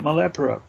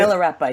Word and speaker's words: Milarepa: Great disrepair, and his life his life is like that Buddhist god you were talking about, Malepura. Is that how you say it? Milarepa, yeah.